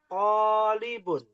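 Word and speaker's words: طالب: Nah, bacanya to-nya panjang. Hadza talibun. Hadza Talibun. Iya. Orang Indonesia sering tertukar nih. Hadza talibun atau hadza talibun. To-nya pendek, li-nya yang panjang. Salah ya. Yang betul talibun.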